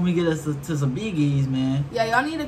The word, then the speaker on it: Bee Gees: Because we looked up how to say it and it was Biggie's.